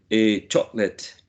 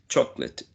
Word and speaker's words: chocolate: chocolate chocolate chocolate chocolate it's a very tricky word it it seems that it has three but Al actually it has only two syllables chalk would be the first one and cl CH Chate would be the second one CH okay um I'll